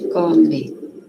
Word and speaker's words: come: Ele come, a gente come. Professora, a gente pode falar come, né?